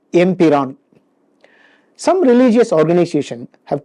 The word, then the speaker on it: Empuraan: Some groups in Kerala pronounce it incorrectly as Empuraan, while many other groups pronounce it correctly as Empiraan.